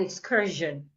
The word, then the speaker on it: excursion: sh like in Mission sometimes s i o n makes a different sound it sound Jen like we have in vision and Excursion so how do you